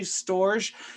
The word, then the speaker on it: storge: like a sound there i'll say so storage because maybe that's how you say it but it's actually storge this is familial love